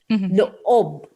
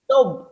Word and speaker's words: loob: Yeah, because in Filipino language, two vowels next to each other, it has to be pronounced as two individual vowels. So I tell my husband the same thing because he's American, right? So he would say, lob. No, I said no. Lo-ob.